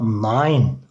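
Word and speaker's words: nein: Ya da nine, Almanca hayır demek. E-i'ye i koyuyoruz arkadaşlar. N-a-y-n, nine şeklinde okuyoruz.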